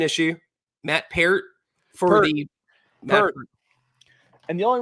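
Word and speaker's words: Peart: time Neil per spelled spelled the same way pronounced per God Rest his soul I remember that now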